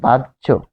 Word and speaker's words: বাহ্য: তার মানে 3টা এখানে রুলস দিয়ে এই ঐতিহ্য উচ্চারণটি গঠিত হয়েছে। যেমন আরো যদি দেখি, আরো সহজ করে যদি বলি, বাহ্য, এটি সহজ শব্দ।